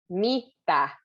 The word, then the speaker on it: mitä: Mitä. I think that's, it's a very in the front kind of a word, but it's very quick.